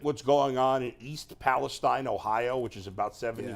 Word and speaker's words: Palestine: rural town of East Palestine, Ohio, which is what? It's actually pronounced Palestine.